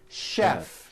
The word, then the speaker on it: chef: things even more difficult there are a couple of words that are spelled with ch and are also pronounced with a sh sound words like chef and the City of Chicago Chicago okay having said that